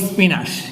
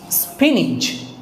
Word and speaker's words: spinach: পালং শাক এটাকে আমরা কি বলি এটাকে বলি স্পিনাশ কিন্তু এটাকে আসলে এটার উচ্চারণ হচ্ছে স্পিনিচ বর্গীয় জল স্পিনিচ এটা আরেকটা উচ্চারণ আছে এটাও